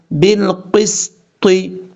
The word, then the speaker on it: بالقسط: طا حروف مستعلیٰ میں سے ہے، پر پڑھا جائے گا. بالقسط، اس طریقے سے.